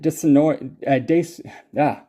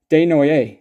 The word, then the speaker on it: Desnoyers: That's Elliot Desnoy. I saw this name recently. Desnoyers, I believe is how it's pronounced.